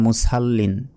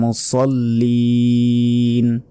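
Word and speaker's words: مُصَلِّين: তারপরে আয়াত ফাওয়াইলুল লিল মুসাল্লিন, ফাওয়াইলুল লিল মুসাল্লিন, আমরা অনেকে বলি মুসাল্লিন, মুসাল্লিন বললে সদের উচ্চারণ হলো না, এখানে সিনের উচ্চারণ হবে।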